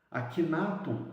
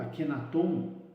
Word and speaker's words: Akhenaton: Akhenaton ou Akhenaton introduz reformas expressivas na idolatria egípcia, inspirado por excelsos pensamentos. Akhenaton ou Akhenaton, dependendo, né, nós encontramos essas duas maneiras de pronunciar esse nome.